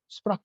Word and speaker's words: Sprachbund: Sprach, I think that's how it's pronounced in German.